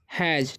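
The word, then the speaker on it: has: ठीक है, एस का उच्चारण यहाँ पर ज हो रहा था।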